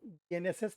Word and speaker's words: BNSS: बीएनएसएस पढ़ रहे हैं, आदत डालिए बोलने की और बिल्कुल क्लियर प्रोनाउंसिएशन बोलिएगा, क्योंकि देखो, बीएनएस और बीएनएसएस में एक एस का बस केवल फ़र्क है। अगर आप बीएनएस बोलोगे तो वो आईपीसी वाला माना जाए, अगर आप बीएनएसएस बोलोगे तो वो सीआरपीसी वाला माना। तो प्रोनाउंसिएशन बिल्कुल सही निकालना, बीएनएसएस।